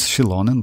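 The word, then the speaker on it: Xilonen: like her name like correct pron pronunciation is shilon but like it's so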